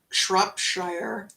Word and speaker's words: Shropshire: country a County and is pronounced sure oh as in Shropshire oh okay I'll take